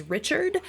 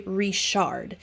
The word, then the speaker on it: Richard: from Willow creek creek you would probably pronounce his last name as Richard but because we know that they are from Willow Creek their name is actually rishard oh sorry I just